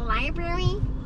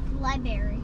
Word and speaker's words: library: I said berries in how do you say it Berry liberry Li Berry like a berry you eat that's how you say it or is it Library libr oh Library oh Library okay anyways we here we